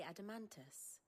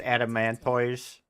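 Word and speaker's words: Adamantoise: Do you know the tale of the blind men and the adamantis? One can often be led astray by focusing too closely. Listen, it's pronounced adamanttoise.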